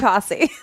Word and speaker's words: Tosi: It's Tosi. Is it Tosi? Yes. Yes. I want to make a long O for some reason.